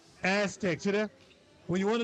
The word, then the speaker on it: Aztex: Aztec.